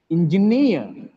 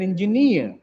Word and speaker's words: engineer: the last celebrity stress engineer he's an engineer he's an engineer near stress japanese japanese it's not